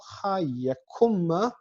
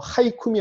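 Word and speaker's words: הַיְקוּם: 아르바임 라일라 우마히티 에트콜 하예쿰마 요거 하이쿰이 아니라 하예쿰입니다. 중복다개시 정관사가 있기 때문에 중복다개시가 와야 되는데 탈락된 거죠. 요드가 쉬스키물 라브 중에 하나니까. 그래서 발음할 때 하예쿰 이렇게 발음하셔야 됩니다.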